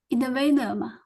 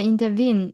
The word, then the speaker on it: intervene: Intervene. Inter in intervene. Yeah. Intervene. And vin. Yes. Stress is on the vin.